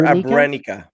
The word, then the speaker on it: Abrenica: Alger Abrenica.